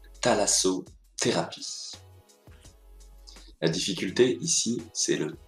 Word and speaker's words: thalassothérapie: tous aujourd'hui un gros difficile prononcer ça se prononce thalasso thérapie la difficulté ici c'est le th est bien français c'est très facile th se prononcent par exemple ici thalasso thérapie regardons le th associé à d'autres bruits leçon